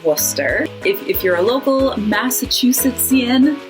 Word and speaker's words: Worcester: A lot of letters in there, just kind of suggestions. And then similar to Worcester is Gloucester and Leicester. They both have that CES combination that Worcester does that you kind of just smoosh all together.